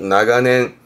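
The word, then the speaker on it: 長年: 그래서 길다에서 발음이 나가에 나가하고 뒤에 년짜니까 발음이 나가낸 나가낸 시험 때 종종 보였던 단어예요.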